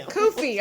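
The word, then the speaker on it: kufi: I don't know the actual name for it kofy kofy yes that's did I say it right yeah well I just it right after me kofy all right moving on can you explain why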